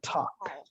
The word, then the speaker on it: talk: Ini bacanya L-nya nggak pernah dibaca. Bacanya adalah talk. Itu T-O-K doang. Talk. L-nya nggak pernah dibaca sama bule manapun.